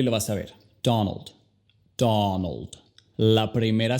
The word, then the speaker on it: Donald: Donald. La primera sílaba es la enfatizada, ¿verdad?